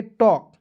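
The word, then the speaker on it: talk: टी ए एल के, इसे पढ़ेंगे टॉक, टल्क नहीं पढ़ेंगे, ठीक है ना।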